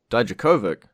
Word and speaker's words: Dijakovic: I've had lessons from someone who speaks Russian on how to say it, Dijakovic.